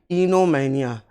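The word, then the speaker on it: oenomania: दूसरा शब्द जो दिया गया है वो इनोमैनिया, ओ को साइलेंट करते हुए हम बोलते हैं इनोमैनिया।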